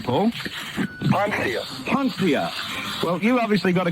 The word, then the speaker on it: Poncia: Poncia.